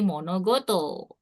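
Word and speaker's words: 物事: Ini juga dibacanya kan koto karena mereka digabung jadi monogoto. Benda-benda atau Iya.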